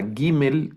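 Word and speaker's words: ג: adelante también luego está la Gmail que es el sonido como nuestra G la G de gato en algunas palabras la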